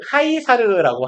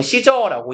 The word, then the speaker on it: Caesar: 그러면 Caesar was considered 카이사르라고 하잖아요. 그리고 보통 시저라고 읽죠. 영어식 발음으로는. 얘는 여겨졌다?